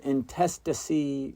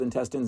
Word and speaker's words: intestacy: I don't have a will there's something called intestacy rhymes with intestines not intestines intestacy rules the state of Texas